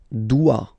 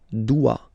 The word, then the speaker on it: dois: Je dois. Okay, remember final S is not pronounced. Je dois. OE, when you combine the two, you get the sound wa wa wa.